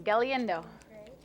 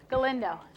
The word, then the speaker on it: Galindo: say her name Ron galiendo nope I messed up Galindo oh there I got it Kylie's also a seventh